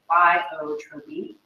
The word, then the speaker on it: pleiotropy: Another example, which is kind of exactly the opposite of genes interacting, is pleiotropy. So that's how you say it. You say pleiotropy.